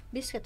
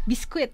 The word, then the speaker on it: biscuit: Oh ya, biscuit katanya. Biscuit. Sini ya. Biscuit. Ya agak cat banget. Biscuit. Ya, biscuit. Jadi bukan biskuit. Kalau ya, biskuit ternyata bukan ya, bukan biskuit ya.